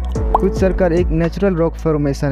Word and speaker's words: Hvitserkur: को, जिसका नाम है क्विटसर्कर। जी हाँ, आइसलैंड में इसको इसी नाम से जाना जाता है। इसका प्रोनाउंसिएशन कुछ इस प्रकार है। क्विटसर्कर एक नेचुरल रॉक फॉर्मेशन है जो आइसलैंड की समुद्र तट में स्थित है।